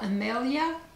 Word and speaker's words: Amelia: is from Emily Boutique Amelia Amelia the accent is on the El Amelia Boutique I'm gonna call